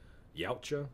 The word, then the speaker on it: Yautja: I don't know how y'all pronounce it, but I call it Yautja.